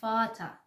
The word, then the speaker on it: Vater: When 'e' and 'r' come together at the end of the word,it will be pronounced /aː/. And this word is 'Vater' in German language.